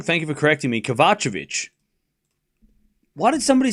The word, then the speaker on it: Kovacevic: All right, so I've been saying the name wrong. Thank you for correcting me. Kavachovic.